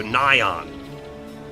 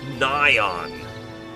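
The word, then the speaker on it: Nighon: I didn't catch it the voice over pronounced the enemy like night on without the T So Nyon Nyon that actually sounds way cooler nion all right hold up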